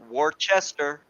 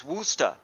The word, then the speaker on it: Worcester: up here Providence and it's spelled War Chester but is woosta woosta right yeah province of